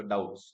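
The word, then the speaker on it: doubts: have any डाउट्स सो यहां पे जो बी है this is silent so डाउट्स हां ठीक है नाउ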